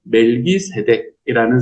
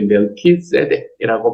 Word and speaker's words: 멜키세덱: 그 사람의 이름은 멜기세덱이라는 사람으로 우리에게 등장을 합니다. 멜기세덱이라는 말은 무슨 이야기인가? 어떤 말인가 하면은 원래는 이제 멜키세덱이라고 발음이 돼야 되는데요.